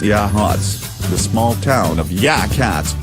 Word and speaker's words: Yachats: Pronounced Yachats.